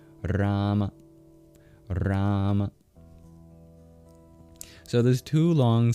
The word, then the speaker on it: Rama: But one aspect that might not be apparent is the first syllable in Rama is twice as long as the second syllable. Rama. Rama.